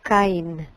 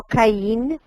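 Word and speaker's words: קַיִן: en español cain así en hebreo se pronuncia cain cain no caín si no caen acento penúltimo en la primera sílaba este es el nombre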